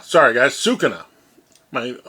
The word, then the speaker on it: Sukuna: iice and I keep on saying Kus uh suca sorry guys Suka my pronunciation is horrible so let's pull our Tab